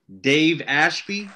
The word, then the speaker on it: Dave Ashby: This is the Absurd Podcast, I believe episode 4, brand new podcast, with a special guest, Dave Ashby.